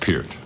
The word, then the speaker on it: Peart: It's just Peart. You sure that it's not Peart?